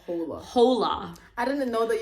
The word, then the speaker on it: hola: Hola. I didn't know that you don't pronounce hola. the H, so...